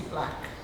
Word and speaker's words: BLK: The show that the first show that I ever saw of the Black Art Group, and it's, instead of BLK, it is Black. That's how we pronounce it.